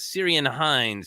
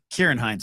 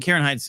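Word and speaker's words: Ciarán Hinds: I think I probably did not say his name correctly, but how pumped are you, Ken? Kieran Hines, I believe.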